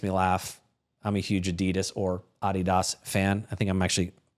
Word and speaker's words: Adidas: the German sneaker company uh that is actually pronounced Adidas. You'll know it as Adidas. Here in the United States, it is pronounced Adidas.